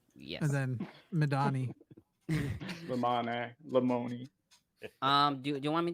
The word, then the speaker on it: Lamoni: a piece of yeah it's laminy like you fix your pronunciation yes Lamoni um do you want me to read yes